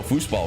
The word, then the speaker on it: Fußball: Oh, Fußball with the German B that is pronounced as an S.